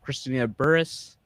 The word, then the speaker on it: Christina Burruss: know if you're just tuning in we have christina burris i hope i said it right i said